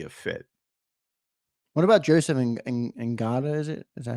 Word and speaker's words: Ngata: What about Joseph Ngata? Is that how you pronounce it?